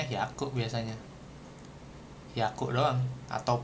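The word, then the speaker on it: 百: I dia bacanya hiaku biasanya hiaku doang atau piaku.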